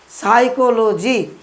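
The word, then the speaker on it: psychology: Viewers, আমরা যখন সাইকোলজি উচ্চারণ করতাম মনে রাখার জন্য আমরা এটা উচ্চারণ করতাম কি পিসি চলো যাই, কিন্তু সঠিক উচ্চারণ করেছি সাইকোলজি, এটা পিএস দিয়ে শুরু হয়।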